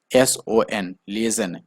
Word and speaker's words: liaison: लाइजन की spelling यहाँ पर गलत है, एल, ध्यान से समझिए, LIAISON, लिएजन, ये इसका सही स्पेलिंग है, ठीक है।